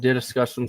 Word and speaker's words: DDiscussioMs: Welcome, everyone, to DDiscussioMs, or Discussions with DDM, but I'd rather you pronounce it like this if you still have trouble pronouncing it. DDiscussioms.